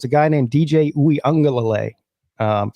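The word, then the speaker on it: Uiagalelei: is gone so it's a guy named DJ oui angal um say that say that again I I was wondering oui angal ouie angal dude how long did it take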